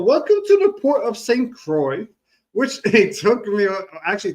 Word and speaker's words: St. Croix: I was like how do you say this is Crocs C you know I could not pronounce it. So it's the same it's the port of St. Croy T was a high of 83.